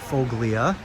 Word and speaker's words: Foglia: its version of unassisted say foglia I go with the Italian pronunciation of Folia when I can Redmond